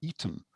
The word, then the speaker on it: Aten: It was called the Aten, or actually we should really pronounce it as being the Eten, a bit like the old public school. It was the Eten, or the Eden.